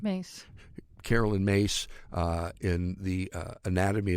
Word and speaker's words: Myss: Mace.